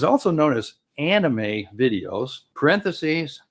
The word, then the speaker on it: anime: It says also known as anime videos parenthesis pronounced quote Annie May.